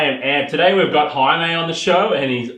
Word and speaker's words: Jaime: For starters, I get called Jaime on a pretty much daily basis, but it's actually Jaime. I was but born in Spain.